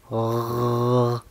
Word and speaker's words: غ: La letra Ghain se va a pronunciar de la garganta a mero arriba. Se necesita esa vibración. Ghr. Y después es una letra grave. Significa que no vas a decir A, vas a decir O.